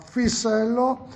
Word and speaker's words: Fissello: Allora, sono di nuovo qua all'azienda, alla Fisello, se lo pronuncio giusto, Giustissimo, giusto, giustissimo.